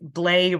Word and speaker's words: Blais: Blais rhymes with play.